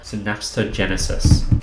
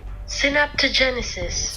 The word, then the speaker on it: synaptogenesis: this place is called synapsogenesis let's see if i pronounce that correctly synaptogenesis synaptogenesis pretty close and this process is